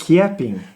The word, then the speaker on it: Chiappin: Como é que se pronuncia o sobrenome de vocês? Chiapin.